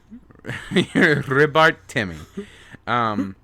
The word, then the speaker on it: Ribarteme: I was really close to pronouncing Timmy? it all right until the very last word. Timmy? Ribarteme.